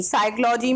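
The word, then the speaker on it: psychology: साइकोलॉजी में P starting में लगा हुआ है, पी की कोई साउंड नहीं आ रही है, इसलिए पी लेटर साइलेंट हो जाएगा।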